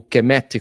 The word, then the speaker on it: Kemet: Depois a gente vai ter que aí nasce o nome do Egito, que o Egito não se chamava Egito, chamava-se Kemet, né? Ou Kemet, como alguns pronunciam, que é terra negra.